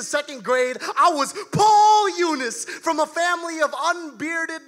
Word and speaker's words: Yunus: Mispronouncing Yunus was a pastime, a punchline to a joke. No, it's not Jonas or Nunez.